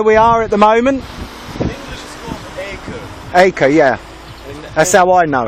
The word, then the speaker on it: Akko: survived here never it's beautiful what's the correct pronunciation for where we are at the moment a co yeah I so I know it so I